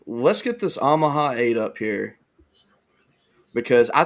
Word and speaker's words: Omaha: saying you're saying ahaha it's not ahaha it's Omaha I never pronounce it